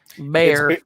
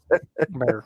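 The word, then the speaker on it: Gbayor: The G is silent. Bayer. It's basically Baylor, but not. So sick 'em Bears. Bayer.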